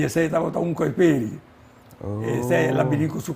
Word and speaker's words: Kuiperi: E ora que na Aruba não escuta a fam Kiperi, me pergunta é certa maneira para pronunciar a fam? Não, morta Kuiperi, não? Kuiperi. Sim, é Kuiperi.